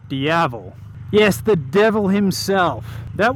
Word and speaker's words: Diavel: to mind it's Italian rhymes with devil or means devil looks pretty damn good it's sexy and that would be the Ducati Diavel yes the devil himself